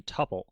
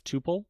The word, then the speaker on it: tuple: very similar data structure called a tupple and you'll sometimes also hear this pronounced as Tuple totally up to you either Tuple or Tuple either way you want